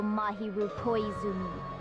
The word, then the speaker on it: Mahiru Koizumi: who used me as their weapon to kill mahiru koizumi that's how you pronounce her name i see that's what you